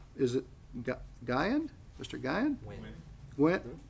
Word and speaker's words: Nguyen: Win. Gwen, say it again? Nguyen? Gwen, Mr. Gwen? No, leave Um, it, Nguyen, drop the G. Win.